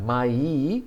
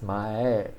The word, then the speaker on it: 前: So you can see it's not mai, it's mae. Because mae is also a word that's frequently used, but this is mae.